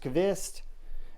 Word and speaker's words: Qvist: so guys that is the kavist or Cubist it's pronounced cavist variant PE version one